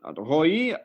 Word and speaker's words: Roei: Hello, Roei. I pronounced it correctly?